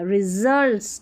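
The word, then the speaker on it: results: each day द, RE, SULTS को जल्ट्स पढ़ेंगे, असल्ट्स नहीं पढ़ना, रिजल्ट्स, ठीक है, RE, SULTS,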